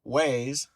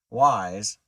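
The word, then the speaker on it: Wyze: i ordered it so waze god i always say it wrong why do i say it wrong because waze is the directional thing like it is a company yeah wise uh the company who makes the cameras that chad and i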